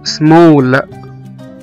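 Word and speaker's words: small: مثلا كمان زي كلمة سمول، S-M-A-L-L، سمول، صغير، هنا نطقنا حرف الـ A كأنه O.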